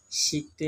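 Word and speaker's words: 十: গতিতে বলুন বাংলা 10 চায়না ভাষার উচ্চারণ হবে শি চায়না ভাষায় উচ্চারণ হবে শি বাংলা চায়না ভাষায়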